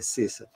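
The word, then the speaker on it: sesa: A pronúncia do cessa tem que ser com dois S. Está aqui no livro de Jair Salles. Se ela voltar, está escrito. S-E-S-A. E quando você pronuncia, ele coloca S-E com chapelo e dois S. Cessa.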